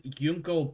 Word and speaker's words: Junko: His name is Yunko Bar. It's Yunko spelled with a J. Junko. Like the Junkers.